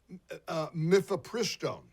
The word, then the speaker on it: mifepristone: I think it's pronounced mifepristone. Mifepristone, according to a federal